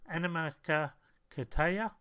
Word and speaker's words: Animakatayo: So this is the correct pronunciation, Animakatayo.